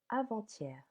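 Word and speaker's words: avant-hier: Hier sal h it means yesterday avanthier avanthier the day before yesterday as you can hear we link the letter T with the letter E.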